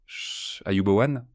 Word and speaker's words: Ayubowan: Wumas aha Ayubowan prononcé en singalais.